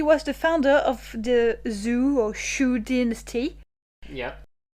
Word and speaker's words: Zhou: The last Chang ruler would be replaced by a vassel called Woo of Zoo in 1122 B.CE or you know thereabouts. Yeah, I think that's pronounced the Joe dynasty.